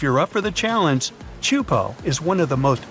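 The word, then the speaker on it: Teahupo'o: It's pronounced Chupo, and it means broken skulls in Tahitian.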